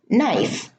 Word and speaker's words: knife: Now, the K is at the beginning of the word and is followed by an N. Okay, so the K here in all of these words is silent.